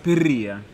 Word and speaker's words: Perria: Chiarelli Perria. Perria. Abbiamo Perria, appurato la pronuncia.